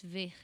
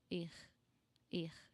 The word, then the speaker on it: ver: most parts of Brazil, this ver is going to sound more like an air going out of your throat. Er.